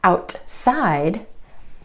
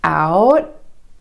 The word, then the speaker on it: outside: For example, the word outside. Instead of outside, outside. The tongue stays up for the T and goes straight into the S sound.